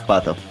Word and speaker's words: Khvatov: Khvatov. The K is silent. Khvatov.